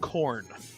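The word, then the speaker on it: Khorne: For all the enthusiasts, it is the champions of corn, like cornflakes. Not spelled like corn.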